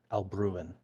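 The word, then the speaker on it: Alruin: Say, so it's like it's like ruin with alb in front of it. Aluan.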